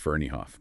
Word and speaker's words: Ferneyhough: we're going to be using insights from Darren fero a true veteran in the field since 2008 it's uh pronounced ferof by the way oh thanks for that already